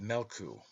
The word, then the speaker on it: Meolku: Therefore the sun is called Meolku, pronounced Melku, a greyhound.